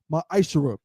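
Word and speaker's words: מעשר: You can find this in numbers 18 and 21 and Malachi 3 8-10 means 10th in Hebrew and it's pronounced maisher 10% of every penny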